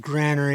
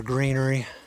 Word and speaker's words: granary: trust my pronunciations but I was told granery is proper over Greenery but either one is okay by me of all the sites